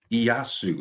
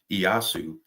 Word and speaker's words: Ieyasu: Moving on, we have Tokugawa Ieyasu, is how you say that. Tokugawa Ieyasu.